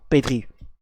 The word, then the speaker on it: Pedri: Pedro Pedri, je sais pas pourquoi je l'ai prononcé comme ça, mais bon, Pedri.